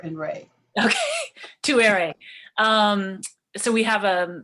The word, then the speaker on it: Tuere: but um that's cool it's too airy so it's just think of two air and ray okay too airy um so we have